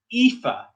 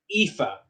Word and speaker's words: Aoife: So this one is Aoife. Remember the AO has the E sound? Aoife.